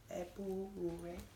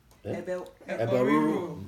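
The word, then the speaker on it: ebo riru: So for certain Ebu Rure, am I saying it right? Riru? Eboriru. Yes, okay.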